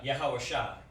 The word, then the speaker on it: Yahweh Shai: So, you know, the proper way to say it is Yahweh and Yahweh Shai. Okay? That's the proper way to say it. Yahweh and Yahweh Shai.